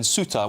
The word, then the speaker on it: Ceuta: I know that there's been reports of people in Ceuta, which I think is the correct pronunciation, as I've been told by James here